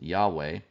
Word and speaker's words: Yahweh: the four letters um Scholars think this was probably pronounced Yahweh we're not exactly sure about that because ancient Hebrew did not include vowels in its writing system but here's a passage